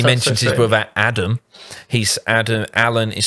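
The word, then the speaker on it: Addam: He's Adam, Alan is spelled A-L-Y-N, and Adam is A-D-D-A-M.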